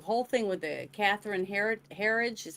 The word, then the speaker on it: Herridge: This is what the whole thing with the Catherine Herridge is how you say her last name?